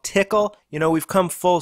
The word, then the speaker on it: Tcl: and Nifty scripting language it's also called tickle you know we've come